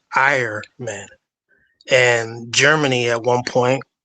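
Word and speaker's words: Ahriman: This is a Persian deity that was the personification in German. That's how you would pronounce his name, Ironman.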